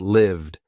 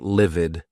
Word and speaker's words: lived: Answered, robbed, mugged, hummed, used, quizzed, lived. Not livid. That's another word, not livid. Lived. I wished I lived in that house.